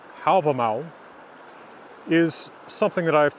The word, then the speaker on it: Hávamál: on a tree in hobble mall stands us 138 to 139 now the poem problem all or is pronounced in modern icelandic album owl is something that I